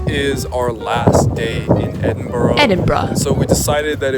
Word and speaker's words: Edinburgh: Edinburgh. Edinburgh. Edinburgh. And now they're coming out. So when you go to Edinburgh, you got 3 days in Edinburgh. It is pronounced as Edinburgh.